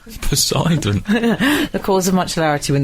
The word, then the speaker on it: Poseidon: my husband is Poseidon he pronounces it posidon Poseidon the cause of maity